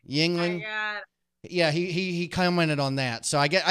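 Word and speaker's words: Yuengling: Youngling or Yangling or what? How do you? Yingling.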